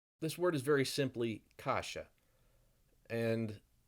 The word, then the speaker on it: каша: каша, каша, This word is very simply kasha, and it's a very important food in Russia, Ukraine, Eastern Europe in general.